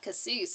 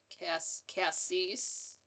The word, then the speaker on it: Cassis: It's not Cassis, is it? I was saying it wrong. Nah, French. Cassis. Cease, like ceases and stop.